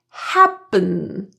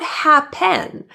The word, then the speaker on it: happen: The second vowel e in happen is reduced to awah. It sounds like happen not happen. Since this vowel is in the unstressed syllable, the stress in this word is in ha.